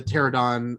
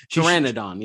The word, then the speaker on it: Pteranodon: she shoots, you know, the pterodon or did I say that right? Um pteranodon pteranodon. That's right. We're both like to leave out one little part there syllable.